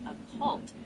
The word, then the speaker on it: occult: It's typically pronounced occult, where the stress is on the second syllable.